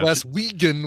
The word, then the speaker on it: Glaswegian: Glaswegian would be a hard G.